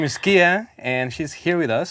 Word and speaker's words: Kia: Is it Kia? Am I pronouncing it right?